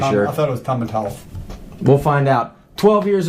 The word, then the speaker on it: Tomintoul: Make it a long O, Tomintoul. not a Okay. short O. Yeah, Oh. and go. It's pronounced Tomintoul. Is it? Yeah, I I'm pretty I sure. thought it was Tomintoul.